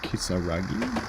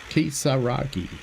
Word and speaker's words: Kisaragi: So I should really just say it how it's spelt, because that generally is how the Japanese use of Roman letters works. So just generally speaking, it's pronounced the way it's spelt out phonetically.